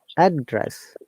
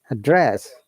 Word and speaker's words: address: different meanings yes okay the first one is what's your address we're stressing on the first part of the syllable address that is rising intonation to falling intonation and we use it a noun or adjective and the second one is address which is bar following intonation to upper intonation which means you know to call someone or deliver a speech we have got 35